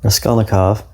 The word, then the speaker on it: Raskolnikov: Raskolnikov.